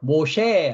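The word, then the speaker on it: משה: 히브리어 발음으로 모셰 합니다. 모셰.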